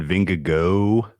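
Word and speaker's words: Vingegaard: race anyone you like there I've settled on vinegar go as the pronunciation like it's like the geau like go Tigers LSU um bingugu um he's a bet Premiere Plus 110.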